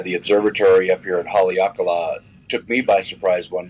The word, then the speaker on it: Haleakala: It's called Kala Observatory, if I pronounce that right. Okay. That's what Dano was saying. He thought we ought to check out, right, Dano? Sir, Haleakala. Haleakala.